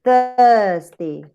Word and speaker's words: Thursday: And where would you set it? In the first column. Okay. Thursday.